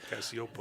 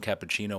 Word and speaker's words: Cappuccio: Joe Cappuccio is how you say his last name, I believe. Cassiopo. Cassiopo, yeah. Not I we we got messed up internally cuz I called him cappuccino one day as a joke